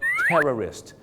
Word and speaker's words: terrorist: ผู้ ก่อ การ ร้าย terrorist 2 คำ นี้ มี เส้น บาง ๆ อยู่ นะ ครับ ใน การ ออก เสียง คือ พยางค์ 2 พยางค์ tourist นัก ท่อง เที่ยว กับ terrorist 3 พยางค ครับ ผม น่ะ กลัว กลัว